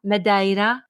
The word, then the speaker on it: Madeira: show do you know in my Portuguese lesson I learned that you pronounce that midaira well that's what Infinity